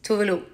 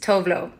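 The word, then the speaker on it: Tove Lo: The Swedish way is Tuvalu. Tuvalu. The international way that I embraced is Tovlo. So you can think of it as voulez-vous, Tuvalu. Voulez-vous, Tuvalu. Voulez-vous, Tuvalu. So that's that. But I will still answer to Tovlo.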